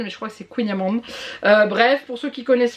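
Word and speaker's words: kouign-amann: Je sais qu'il y a une personne qui prononçait Queenyaman, mais je crois que c'est Queenyaman.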